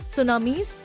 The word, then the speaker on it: tsunami: They are called tsunamis, pronounced as tsunami.